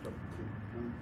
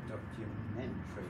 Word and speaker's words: documentary: Stress there, so you kind of got documentary. Sorry, that should be. It looks like Terry. It's in fact one syllable. So documentary.